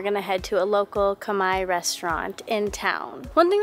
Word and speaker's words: Khmer: I think I was always pronouncing it Khmer, but Khmer.